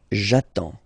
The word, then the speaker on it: attends: J'attends. Okay? You get D and S. Well, basically you don't pronounce them. Okay? And then you get only the sound attends. Nasal here. En.